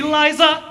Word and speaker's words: Liza: It's Liza with a Z, not Lisa with an S, cuz Lisa with an S goes knots.